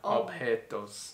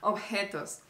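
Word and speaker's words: objetos: mistake you made was obos yeah I said objects yeah you said objects but the letter J in Spanish remember you pronounce it like like a tired dog remember ofos and the next one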